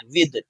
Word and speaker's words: with: इसको विथ, कुछ कुछ लोग जो है इसको प्रोनाउंस क्या करते हैं? विथ पढ़ते हैं। थ का प्रोनाउंसिएशन नहीं होना, द बोलना है, विद।